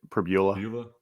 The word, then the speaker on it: Pribula: I think Beau Pribula, is that how you pronounce it? Pribula? I say Pribula.